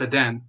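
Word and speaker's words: Edén: But in Spanish it's pronounced Eden.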